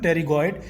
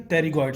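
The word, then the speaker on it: pterygoid: इसमें P silent होता है, सो we will call it lateral टेरिगोइड and medial टेरिगोइड।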